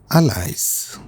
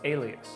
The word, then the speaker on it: alias: Very often we pronounce this word as allies, but it should be pronounced alias.